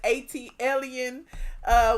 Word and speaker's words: ATLien: You would pronounce it ATLien, but the pronunciation is ATLien, which stands for the city ATL. And being an alien, I arrived here and I stayed and never left.